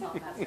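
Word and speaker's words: hovmästar: Then that's how you say it anyways, it's Hop Master, and that is the sauce, and then it's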